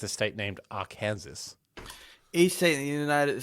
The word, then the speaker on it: Arkansas: or something yeah we've got Alabama Alaska Arizona AR Kansas did you say AR Kansas not Arkansas Aransas um Arkansas that's not here isn't it Aransas I don't think it's a state named AR Kansas each state in the United States is listed